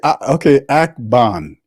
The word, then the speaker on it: Akban: Akban is how you pronounce my name.